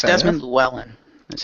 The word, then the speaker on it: Llewellyn: And it's fair Desmond Llewellyn. That's how you say his last name. Sorry, I don't know how to pronounce that.